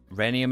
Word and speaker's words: rhenium: Rhenium is pronounced rhenium. Really?